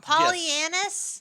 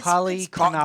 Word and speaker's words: Polychronopoulos: Devin Polychronopoulos. Pollyannis? It's Polychronopoulos.